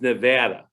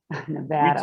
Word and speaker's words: Nevada: It's Nevada. Nevada. We take great pride in that here, that, you know, you pronounce the state correctly, just so you know. Okay. Okay. I will make a note of that and make sure I call it Nevada.